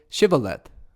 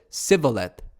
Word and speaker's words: Shibboleth: If he said, "No," then they said to him, "Now say, Shibboleth." And he said, Sivoleth, for he couldn't manage to pronounce it correctly.